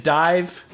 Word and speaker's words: DIV: Div is dive.